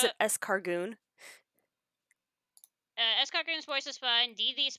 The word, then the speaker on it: Escargoon: as they pronounce it, Escargoon.